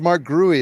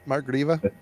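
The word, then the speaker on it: Marc Grewe: Andreas and I and I used to think it was Mark guuy as well but it's grieva isn't it Mark grieva Mark gria yeah yeah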